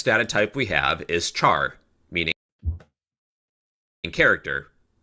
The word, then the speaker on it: char: Unlike integers, okay, then the next data type we have is char, meaning in character. Char are pronounced like the word Charizard.